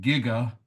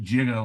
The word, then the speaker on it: giga: I call it giga, like you're gigging frogs, whereas they called it jigga, like you're jiggling. Okay.